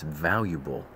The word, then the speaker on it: valuable: is important that it's valuable valuable why don't we ever pronounce the a in that we have to teach